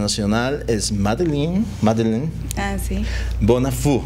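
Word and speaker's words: Bonnafoux: Bonafou es la pronunciación correcta, porque está muy afrancesado.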